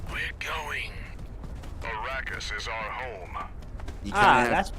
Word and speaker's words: Arrakis: Arrakis? Why did he say Arrakis? It's Arrakis. Arrakis. You know, like that place called Iraq.